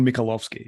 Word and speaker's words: Mikolovsky: Did I pronounce that right? You pronounce it Michael Mikolovsky, yes.